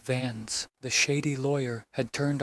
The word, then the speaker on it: Vance: Beatrice Carver, pronounced Carver, was still dodging questions about the vault key, while Clarence Vernon, pronounced Vernon, the dark-coated stalker, and Cyrus Vance, pronounced Vans, the shady lawyer, had turned our closed case into a live wire.